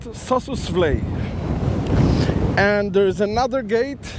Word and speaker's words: Sossusvlei: And the road that is connecting from Sesriem to Sossusvlei, yeah, this is how they say it, is about 45 kilometers.